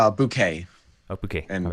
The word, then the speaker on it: Bunch: It's Bouquet. Oh, Bouquet. And all right. everyone pronounced it incorrectly, so I'm completely fine with however anyone says.